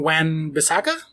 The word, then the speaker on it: Wan-Bissaka: And on the way out, we have, let's see, this one guy called Aaron Wan-Bissaka? One season wonder, yep. That's how you actually pronounce his name.